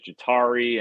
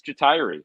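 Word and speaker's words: Ja'Tyre: exactly and he and i've heard people pronounce his name all sorts of different ways jatari and like and he said it's retiree so you guys are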